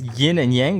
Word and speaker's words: yin and yang: It's pronounced yin and yang.